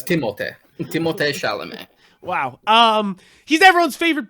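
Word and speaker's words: Timothée: really timothy look i i didn't yeah it's timothee wow um he's everyone's favorite boy right now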